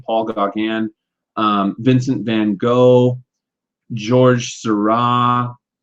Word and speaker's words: Gauguin: Paul Gauguin is how you say his name, Paul Gauguin.